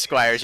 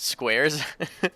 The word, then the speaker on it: Squires: It is Squires. You pronounced it Squares.